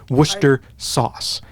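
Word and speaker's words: Worcestershire sauce: be Worcester sauce the the Shire part of it is entirely silent what I'm not even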